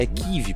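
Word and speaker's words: Kyiv: é vi só que o certo a se pronunciar equiv porque a pronúncia que vive ela é uma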